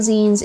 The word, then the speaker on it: zines: One of the big things about zines is that That's short for magazine. That's why it's pronounced like that.